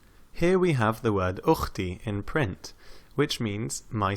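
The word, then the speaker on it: أختي: Alif takes a hamza because it's pronounced ukhti.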